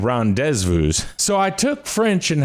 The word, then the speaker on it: rendezvous: vu fiance and rendezvous of course pronounced properly that would be deja vu and ron dezvous so i took french